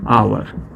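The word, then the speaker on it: hour: लेकिन जब हम इसका प्रोनाउंसिएशन करते हैं, जब साउंड हमारा आता है तो साउंड हमारा आ जाता है आवर और यहाँ पर क्या हो जाता है, एयर, ठीक है।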